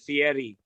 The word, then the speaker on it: Fieri: no no you have you have to pronounce it fieri not field casey i sent some